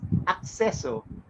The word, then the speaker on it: Accesso: then clear my mind that it's accesso because it's access yes Cor you know